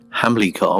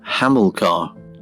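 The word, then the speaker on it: Hamilcar: criticized quite strongly for mispronouncing the Hamley car when in fact it should have been haml car and somebody remarked about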